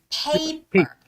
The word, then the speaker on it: paper: saying paper it's not Peppa It's Paper hey like as if you're saying you're paying for something it's pay and then paper paper paper people yes